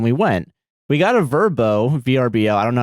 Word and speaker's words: VRBO: went we got a verbo vbo I don't know how to pronounce I know V vbo yeah you say the letters yeah you just say it stupid name we got VRBO just say go to